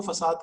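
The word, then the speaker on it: façade: आगे जाके एक गैंग ऑफ 4 का भी डिजाइन पैटर्न है जिसका नाम है फकेट कंट्रोलर। इसको फसाद कंट्रोलर भी कहते हैं। लिखा फकेट जाता है, प्रोनाउंस इसको फसाद करते हैं।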